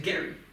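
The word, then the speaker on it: Gerry: e r r y g e r r y yeah Jerry but he pronounced it Gary that's so weird I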